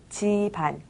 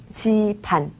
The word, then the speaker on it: 집안: 집안 대청소를 했다고 했죠 집안은 쓸 때는 집 안이라고 씁니다 하지만 발음할 땐 g 반이라고 발음하죠 지반을 신경 쓰면서 한번 말을 해보겠습니다 찾아주세요 찾아주세요 찾아주세요 집안 지반 지판 발이라고 하면요 걸어다니는 발이에요